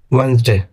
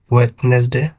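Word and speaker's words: Wednesday: ওয়েনসডে, ওয়েনসডে বুধবার। এই ওয়েনসডেকেও অনেকে ভুল করে ওয়েডনেসডে বলে ফেলে, আসলে শুদ্ধ উচ্চারণটি হবে ওয়েন্সডে। আবারও বলছি, ওয়েন্সডে।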